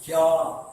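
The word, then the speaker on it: क्या: இப்போ இது எப்படி உச்சரிக்கின்றால், கியா என்று உச்சரிக்க வேண்டும். நாம் என்று இதை இக்கியா உச்சரிக்கக்கூடாது, கியா என்று உச்சரிக்க வேண்டும்.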